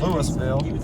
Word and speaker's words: Louisville: the city of Louisville Kentucky but here they pronounce it Louisville about population a little over 4,000 ax39 and